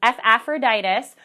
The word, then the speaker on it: Epaphroditus: you can remember that the beginning is pronounced like the beginning sound of ephesians and that the rest of it is similar to aphrodite's it's aphroditus but similar